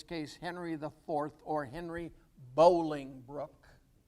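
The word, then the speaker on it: Bolingbroke: henry iv or henry bowlingbrook spelled broke but pronounced brook b-o-l-i-n-g k b-r-o-k-e bowling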